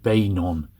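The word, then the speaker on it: Beynon: from John B B banon Harris I often pronounce it benan but it's B banon Harris this is wind that was windham's name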